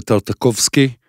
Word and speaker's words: Tartakovsky: I'm glad to have with me Alexander Tartakovsky.